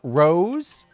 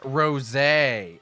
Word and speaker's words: Rosé: But apparently um did you know there is a soda called a Super Saiyan Rose?